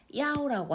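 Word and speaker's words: 幺: 이 1은 보통 전화번호나 숫자가 막 혼돈되어 있을 때는 얘를 발음을 야오라고 합니다.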